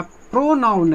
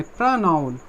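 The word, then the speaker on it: pronoun: दूसरा क्या कहलाया, प्रोनाउन है, प्रनाउन, ओ नहीं आ, ओ उच्चार, इस ओ का प्रोनाउंसिएशन ओ नहीं होना चाहिए, क्या होना चाहिए, आ। प्रनाउन, नॉट प्रोनाउन, प्रनाउन।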